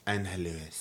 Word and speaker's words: Angelus: Angelus. Angelus. Thank you for making me pronounce it correctly.